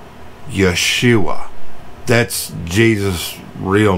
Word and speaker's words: Yeshua: and it the the original Hebrew Aramaic language the name Jesus was pronounced Yeshua that's Jesus real name